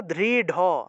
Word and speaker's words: দৃঢ়: তাহলে দৃঢ় আছে, এখানে দৃঢ় থাকলে আমরা উচ্চারণ করব দৃঢ়, দৃঢ়, ঢ উচ্চারণ করব।